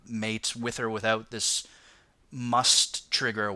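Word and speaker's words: musth: they go through this stage called must it's spelled like mu sth right but it's pronounced must and it's where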